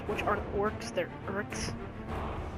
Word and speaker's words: Uruk: Basically, the Uruks, which aren't orcs, they're Uruks. I say it like Uruks, but some people call it like Uruks.